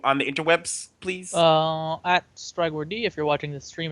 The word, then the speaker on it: Strygwyrd: At Strygward, if you're watching the stream, it's on there. If not, it's at STRYGWYRD, and the D is silent.